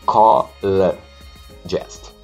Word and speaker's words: psychologist: A segunda letra O é um som neutro, é L. Essa é psychologist.